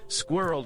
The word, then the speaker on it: squirrel: Some suggest that squirrel could be included but squirrel is intended to be pronounced as two syllables. Squirrel according to most dictionaries.